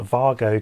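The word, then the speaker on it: WAGO: if you're interested are called Vargo connectors that's spelled with a W these are clip style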